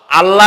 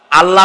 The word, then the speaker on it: আল্লাহ: নাম আল্লাহ বলেন তো আল্লাহ নয় কিন্তু আল্লাহ হচ্ছে অশুদ্ধ শুদ্ধ হচ্ছে আল্লাহ বলার সময় মুখটা গোল হয়ে যাবে বলেন তো সবাই উচ্চারণ